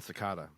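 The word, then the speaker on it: Secada: if I'm mispronouncing that oh it's a John sakata sakata thank you it's not cicada s Danny Danny's cracking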